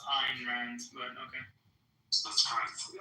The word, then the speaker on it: Ayn Rand: It's actually pronounced Ayn Rand, but okay.